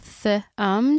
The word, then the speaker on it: thumb: Thumb t h u m. Right. Yeah, but you got that weirdo b on the end as well. Oh, A SILENT B.